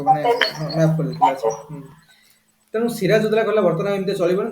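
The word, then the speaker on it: Siraj ud-Daulah: सिराज उद्दौला देखो हम प्रोनाउंसिएशन कर दोसन कि देखो डी यू ए एल ए डुला सिराज उद्दौला asked both French and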